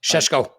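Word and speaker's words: Šeško: The only reason I don't want Sesko is nobody's going to say his name the same way. Sheshko. I don't want to You got to say use Sheshko. that Sean Connery accent.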